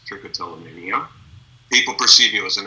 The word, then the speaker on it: trichotillomania: learn how to spell and you can actually pronounce trichotillomania people perceive you as an expert right so